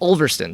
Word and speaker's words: Ulverston: So you said Ulverston, is that how you pronounce it? Ulverston, England.